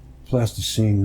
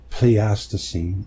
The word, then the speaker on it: Pleistocene: Plasticine nonconformity. Pleistocene. I know. Some people say you didn't pronounce it right. Let's see how the guy pronounces it.